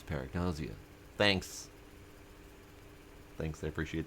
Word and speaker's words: Paragnosia: Ah, paragnause is pronounced as paragnazia.